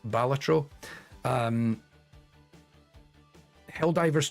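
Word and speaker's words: Balatro: really great but also critically it's pronounced batro um hell divers 2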